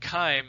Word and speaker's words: chyme: the moment the word kyme has not surrendered to to modern english right so chyme is a is a latin word and and it is pronounced with a hard c right so c-h-y-m-e-chyme is